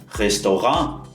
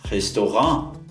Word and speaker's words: Restaurant: uma razão para isso a palavra Restaurant vem do francês por isso que a gente pronuncia dessa forma também no alemão e o segundo local